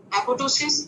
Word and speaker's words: apoptosis: एपोप्टोसिस ये जो है जिसको एपोप्टोसिस लिखा हुआ है लेकिन इसका पी साइलेंट होता है, ठीक है, एपोप्टोसिस and necrosis both are cell injuries.